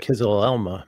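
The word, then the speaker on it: Kızılelma: Can you pronounce that again? Do it. KIZILELMA, Bayraktar KIZILELMA.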